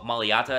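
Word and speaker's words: Mailata: Obviously, Maliata is how you pronounce his name.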